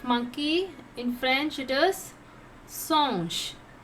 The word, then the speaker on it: singe: In French it is singe. How to pronounce? Singe. Monkey, singe. In you have to pronounce a. Okay? Singe.